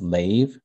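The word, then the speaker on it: לב: And when you look up in the Hebrew word for heart is pronounced lave, Mhm.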